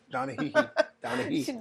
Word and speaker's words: Donahue: She told us that was a trick in remembering her name. She's like he. Okay, so yeah, you don't want to mispronounce her name on TV, you know. Donna. I said Donahue, and she goes he, and I was like,